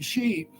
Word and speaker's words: Xi: They all called themselves Shi because, see, Shi, Xi, which is pronounced SH or Shi, what that means, in a sense, is black.